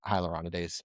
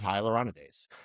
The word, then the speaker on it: hyaluronidase: So if you have a vascular occlusion, do you have that hyaluronidase on site or hyaluronidase?